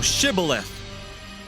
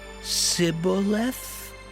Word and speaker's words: Shibboleth: If he said, Nay, then said they unto him, Say now, Shibboleth. And he said, Sibboleth? For he could not frame to pronounce it right.